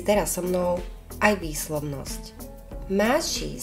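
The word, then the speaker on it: ماشي: so mnou aj výslovnosť Máši sa vyslovuje ako také e a a spolu nie je to úplné Máši ani mši znie to niečo ako e a a spolu mši mši ani znamená odchádzam zároveň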